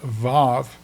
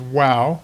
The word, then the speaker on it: vav: You can choose to pronounce it as wow, which is what biblical uh Hebrew scholars pronounce it. They pronounce it wow. W A W. But in modern day Hebrew, it's called a vav. So, it has a v sound rather than the w sound.